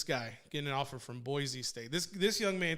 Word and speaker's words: Boise: you know that such brown that's how it's pronounced it's boise not boise oh okay yeah like what's the hatching you